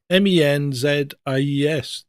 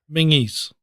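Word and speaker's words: Menzies: Men z. You know how that's really pronounced? How? Mingis.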